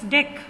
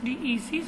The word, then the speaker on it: dec: You don't have to pronounce it as this, because the spelling of December it comes DEC, so you don't pronounce it as this, you need to pronounce it as dec.